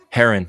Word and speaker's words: Heron: Heron, like the bird, Heron.